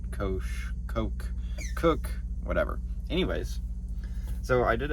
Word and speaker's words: Koch: directly spoke to an employee at Koch, it's pronounced Koch, so I don't know. It's still probably wrong, and I know all of you guys are going to say that it's not right. Koch, whatever.